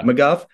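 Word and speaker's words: McGough: recently uh Scott how am I going to pronounce his last name ago is that the right name yeah McGuff uh they're all pitching well uh you mentioned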